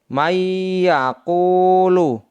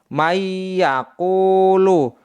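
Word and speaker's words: مَن يَقُولُ: bertemu dengan huruf ya cara membacanya sebagai berikut May yaquulu May yang semestinya dibaca Man karena nun sukun bertemu dengan huruf ya maka dibaca May yaitu mayyaakulu dibaca dengan dengung contoh yang kedua adalah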